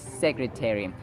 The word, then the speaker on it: secretary: secretary secretary Terry secretary notice that the third syllable is pronounced as te te secretary it's not ta It's te It's secretary just like missionary visionary